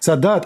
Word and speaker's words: Sadat: Am I pronouncing Sadat? Anwar Sadat? Sadat.